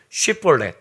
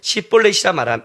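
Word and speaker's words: שיבולת: 에브라임 사람이냐 하여 그가 만일 아니라면 그에게 이를 쉬볼렛이라 발음하여 요거 아니에요. 발음하라 하여 에브라임 사람이 그렇게 바로 말하지 못하고 시볼렛이라 발음하면 길르앗 사람이 곧 그를 잡아서 요단강 나루턱에서 죽였더라.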